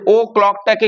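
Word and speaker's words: o'clock: ও ক্লক মানে হলো কিন্তু অফ ক্লক। অফ ক্লক। কিন্তু লেখার সময় আমরা সেটা দেখতে পাই না। এই অফটাকে সাইলেন্ট করা থাকে। অফটা মানে এফটাকে উজ্জ করা থাকে।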